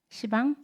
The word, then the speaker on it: 시방: 그래서 그러면 원래 발음으로는 10방인데 이제 우리 이 말의 흐름에 따라서 이게 비읍이 탈락되는 거죠.